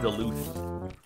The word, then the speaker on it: Duluth: be able to hear it oh it's pronounced duluth my bad is on fire oh lauren hello